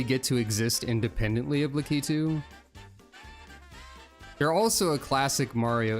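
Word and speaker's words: Lakitu: The thing with spiny is that litu, which is how you pronounce that by the way officially. I always said lacatu, but it's litu.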